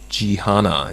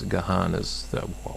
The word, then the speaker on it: Jihana: We do have a clarification that Jihana is how we pronounce Gahan as what I was pronouncing as Gahana. It's Jihana. So remember that for next week, Joel.